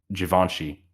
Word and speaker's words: Givenchy: to set the record straight, Givenchy. Givenchy, sorry.